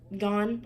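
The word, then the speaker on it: Ngan: Girls of Paper and Fire by Natasha Gann, I think. Gann? I don't know if the N's silent or not, but Natasha Gann.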